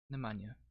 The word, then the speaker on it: Nemanja: you say nemanja that's how you say it nemanja with some legendary nemanjas on this team by